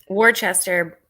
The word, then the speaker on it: Worcester: same time oh you're good hey Shea um Worchester born and raised you know you said it